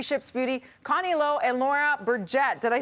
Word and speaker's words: Burget: Joining us this morning is the co-founders of 3 Ships Beauty, Connie and Laura Burget. Did I say it right? Burget.